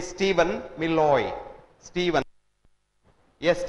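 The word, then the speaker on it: Steven: Washington state university his name इ स्टीवन मिलय स्टीवन एस टी ई वी ई एन नॉट स्टीफन य नो स्टीफन इ also pronounce स्टीवन बट स्टीवन मिलय एम आई एल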